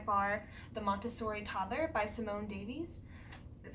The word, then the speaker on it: Simone Davies: So my first and favorite one is by far The Montessori Toddler by Simone Davies.